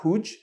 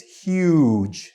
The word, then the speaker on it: huge: have is huge so this one you really have to stretch your u sound in huge huge not huj or HUD it's huge so make sure you're stretching it um and you can